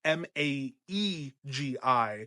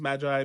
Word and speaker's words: Maegi: Maggy is the Westerosi's attempt at pronouncing the term, I'm going to say it's called Maggi. So Maegi. So like a magi. Sometimes it's pronounced magi, Maggy, whatever.